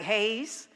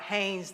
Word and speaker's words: Haynes: this pronounced like Isaac Hayes she said no it's pronounced like Haynes the underwear I said okay Reverend